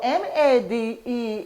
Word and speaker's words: made: So M-A-D-E is not M-A-D. Now that the E has come on it, it's made.